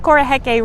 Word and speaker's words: Koroheke: So I wanted you to tell you, Cade, that you've always pronounced Koroheke right. It's pronounced exactly right, but it's a Maori word, and so that means that you put your future city in Australia, right?